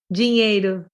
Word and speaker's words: dinheiro: Dinheiro. Yes, you put like a J sound for the D, right? Like dinheiro.